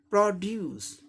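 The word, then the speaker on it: produce: ये नाउन की तरह प्रयोग हो रहा है, इसलिए फर्स्ट लेवल पे स्ट्रेस है, यानी कि फर्स्ट सिलेबल को जोर दे के उच्चारण करना है। तो कैसे करेंगे? प्रोड्यूस, प्रोड्यूस, प्रोड्यूस, प्रोड्यूस, ऐसे हो जाएगा।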